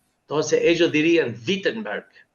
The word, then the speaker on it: Wittenberg: Toda la vida yo lo pronunciaba Wittenberg, pero los alemanes pronuncian la W como V. Entonces ellos dirían Wiittenberg.